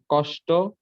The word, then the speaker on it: কষ্ট: কষ্ট, নষ্ট, বৃষ্টি, সৃষ্টি, তৃষ্টি, অনুষ্ঠান। হ্যাঁ, কষ্ট নষ্টতে লাস্টে ট, ট, ওই যে ট এর সাথে ওকার উচ্চারণ হবে, ওটা একটু কষ্ট, ক্লিয়ার কর।